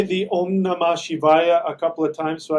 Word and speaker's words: Om Namah Shivaya: Can you say the Om Namah Shivaya a couple of times so I can hear how it's pronounced? Om. I'll spell it for you. That M is actually an NG sound. Om Namah Shivaya.